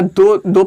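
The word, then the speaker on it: the: उच्चारण इसका द भी होता है और दी भी होता है। तो कब दी होगा? when it is used before a word having vowel sound or pronunciation।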